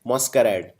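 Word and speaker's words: masquerade: तीसरा शब्द है मॉस्करेड। इसको बोलते हैं मॉस, ना कि मास। मॉस, मॉस्करेड।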